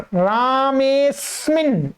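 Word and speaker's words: रामोऽस्मिन्: क्या होगा रामेस्मिन, इसमें अ का उच्चारण नहीं करना है आपको, यहां पर रामेस्मिन ऐसा बोलना है।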